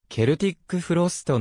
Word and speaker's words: Celtic Frost: がはでは正確にはケルティックフロストの発音で一貫している 1984